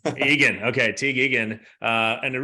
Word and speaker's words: Egan: Did I pronounce that correctly? Egan. Egan.